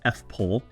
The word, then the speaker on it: FPOEL: acronym for it FP o e l we pronounce it fple and it means floor plan on every listing